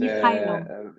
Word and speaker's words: Mykhailo: Mykhailo, c'est Michaelo. en ukrainien. En russe, c'est Mikhail. Et en français, c'est Michel. Michael Ah, en anglais. Mais Michael. en ukrainien, c'est Mykhailo. Michaelo.